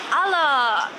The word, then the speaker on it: Alok: In South America, we say Aloki. Aloki. So that's why I try to push as Alok here aside so that okay.